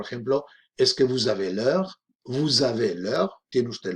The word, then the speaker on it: l'heure: La razón por la que se escribe L apóstrofo, bueno, ya lo sabéis, es porque cuando una palabra empieza por vocal o H muda, las H prácticamente son siempre mudas en francés, la vocal del artículo desaparece. Y por eso no decimos la heure, sino l'heure, ¿ok?